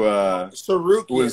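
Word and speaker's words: Tsarukyan: Who Sarukian, that's how you pronounce it.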